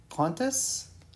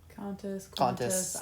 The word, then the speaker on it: Qantas: is Russia, Mother Russia, Avianca, which is Colombia, Qantas, I think is how it's pronounced. Qantas.